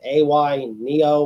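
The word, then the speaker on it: AYANEO: that that you're talking about before nick the a y neo what yeah that's how you pronounce it they're also coming out with a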